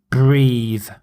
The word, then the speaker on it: breathe: air from the sea so breathe the final e changes the word from breath to breathe so without a knee it's breath with a knee it's breathe breath breathe and some sentences he